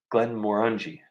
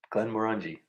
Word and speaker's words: Glenmorangie: Glenmorangie. Oh, yeah. Rhymes with undies. Did I get it? Undies? Well, I guess. Glenmorangie.